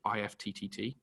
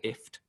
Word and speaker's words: IFTTT: We use a system called IFTTT, or IFT. I think it's technically pronounced. It sounds a bit weird saying IFT, but it's kind of like combining two systems together.